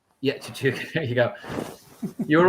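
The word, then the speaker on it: Tshituka: How do you pronounce the open side, Brendan? Tazaki? Vincent Chichuka. Yeah, Chichuka.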